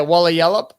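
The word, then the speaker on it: Walyalup: Yeah, Walla Yallop, as that's how you pronounce it.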